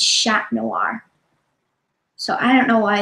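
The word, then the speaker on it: Chat Noir: black cat right and in French it's shack noir so I don't know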